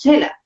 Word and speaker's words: Xela: que se llama Quetzaltenango, pero nosotros le decimos Xela. Xela es el nombre indígena de la ciudad y algunos pues que ya nos ¿Cómo? están viendo, Chela. Xela, Xela, Chela. Xela, sí, es con X, pero nosotros lo pronunciamos como Xela.